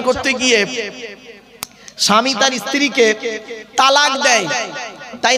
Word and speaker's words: তলাক: গিয়ে স্বামী তার স্ত্রীকে তালাক দেয় তাই না আরে ভাই বলুন না শব্দটা কিন্তু তালাক নয় শব্দটা তালাক বলবেন না কেউ শব্দটা হলো তলাক কি বললাম তলাক ওর